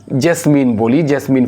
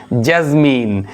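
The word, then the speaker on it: jasmine: জ্যাজমিন অর্থ হচ্ছে আমরা যেটাকে জেসমিন ফুল বলি, এটা ইংরেজি উচ্চারণ হবে জ্যাজমিন।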